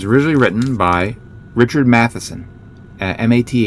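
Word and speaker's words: Matheson: written by Richard Mat, M A T H E S O N, Mat Mathematics, Mat.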